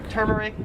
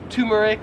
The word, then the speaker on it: turmeric: i would pronounce this turmeric however in australia they would pronounce it as turmeric like you have a tumor turmeric tumor wow i say it